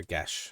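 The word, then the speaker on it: geas: g e a or gash I should say right that's definitely not how it looks like it would be pronounced but I think it's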